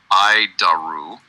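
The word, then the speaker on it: ADIRU: data initial reference unit we pronounce it iaru iaru it's horrible name but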